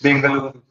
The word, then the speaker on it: Bengaluru: Bengaluru or Bangalore or what is the correct pronunciation. It is Benaluru. Bengaluru.